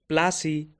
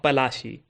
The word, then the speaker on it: Palashi: Plassey is an anglicized pronunciation of Palashi, and the place derived